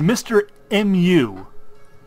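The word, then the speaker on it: Mr. Mu: who can't see this he's not Mr Moo as in Mr M O though he does clarify that that's how you're supposed to pronounce it he's Mr mu like some weird Chinese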